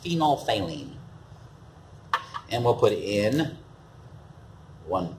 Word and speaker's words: phenolphthalein: bottle they did it looks like phenolphthalein it's pronounced phenolphthalein and we'll put in one two three drops